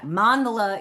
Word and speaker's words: mandala: Although I will tell you most people say mandela or mandela. Yeah, mandelola is the correct way which I was taught. It's a Sanskrit word and in Sanskrit a three syllable word the first syllable is always annunciated.